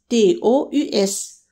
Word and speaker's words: tous: Pour le masculin pluriel, on écrit to à la fin S, T-O-U-S. Tous les jours. Donc ça s'écrit différemment mais se prononce de la même manière. Tout le temps et tous les jours.